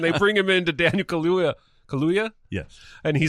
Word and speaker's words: Kaluuya: I am going to say it wrong always. Kaluuya.